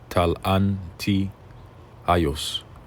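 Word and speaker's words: ταλαντιαῖος: tios, ta halan tios, or as they pronounce it, talan tios, which means a weight or worth of a talent.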